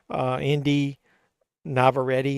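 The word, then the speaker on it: Inde Navarrette: Indy Navarrete is how you pronounce her name, plays Nikki.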